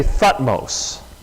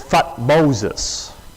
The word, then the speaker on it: Thutmose: you want to say Thutmose, but the way the Egyptians, a lot of times in their spelling, they would skip over a couple letters. So the way the Egyptians pronounced it was Thutmoses.